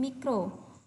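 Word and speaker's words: μ: Kemudian mikro itu simbolnya gini, kayak U tapi ada buntutnya. Ini bacanya mikro. Nah, ini bacanya mikro ya, ini mikro. Jadi bukan U, ini mikro.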